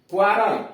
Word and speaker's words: quarrel: QUE का उच्चारण नियम, जब किसी वर्ड में QU हो, अगर किसी शब्द में QU हो तो इसका उच्चारण क्व होता है। यानी ऐसा कोई शब्द आया है जिसके अंतर्गत QU का प्रयोग किया गया है तो इसका उच्चारण क्व होता है। जैसे क्वारल, QUARREL, क्वारल मतलब झगड़ा।